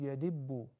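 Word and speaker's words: يدب: The right pronunciation is yadibbu.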